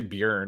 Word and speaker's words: Bjorn: handed that's the yeah i love how you guys say beyond beer how do you say it beyond beyond beyond yeah i say bjorn oh my god that's so different yeah there are your r is so much more muted yeah it's pretty much